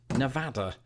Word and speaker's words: Nevada: to the people of Nevada that I will pronounce it Nevada Nevada Nevada I don't even know what you